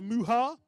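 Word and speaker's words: Mucha: Race 82, Isla Young, Libby Coppin, Anastasia Muha. Apparently the C is silent in that name.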